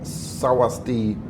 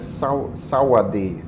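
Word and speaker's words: สวัสดี: call it that, because the correct pronunciation, this means hello in Thai, but some people write it with an S. And I've seen it written with a T as well. But the sound is Sawadi.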